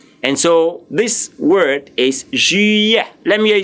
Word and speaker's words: juillet: The word July in French is juillet. Now the J-U is ju, and the L-L-E-T is iye. Please, the T there is silent there.